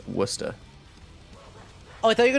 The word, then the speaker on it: Worcester: I like to say Worcester to make fun of people, but it's pronounced Worcester.